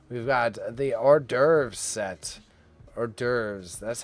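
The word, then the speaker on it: hors d'oeuvres: Is that how you spell or derves? Okay. I didn't think so. Okay. Okay. Okay. Okay. Okay. It's like, "No way." Uh, because French people don't pronounce the H.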